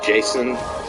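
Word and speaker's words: J'son: guy J is it it's spelled j apostrophe s n so Jason but I just whatever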